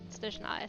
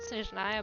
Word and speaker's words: Snezhnaya: I mean, I would pronounce it as Snezhna. So it's, you know, basically it has like the stress in a different place, you know, not Snezhnaya but Snezhna, and also a bit more Slavic accent there, but that's fine.